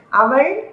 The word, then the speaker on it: அவள்: Actually, when we are conversing or talking, we won't pronounce this L, ill.